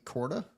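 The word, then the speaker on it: Korda: that Adam Scott and Nelly Corda is that right is that how you pronounce that last that's correct that is correct apostrophe above the o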